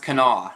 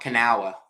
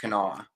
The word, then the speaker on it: Kanawha: it's actually pronounced i heard from amy it's pronounced kanawha not kanawa i thought it was kanawa too but it's actually pronounced kanoa so we're starting it at ten dollars this